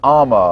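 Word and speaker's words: Umma: Yeah, I think, I tried to look it up right before, and I think it's pronounced Ama, because it's the Korean word for mother.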